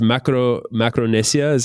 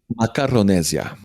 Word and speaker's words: Macaronesia: So it's Macronesia is how you Macaronesia. Macronesia. Can you spell it for me?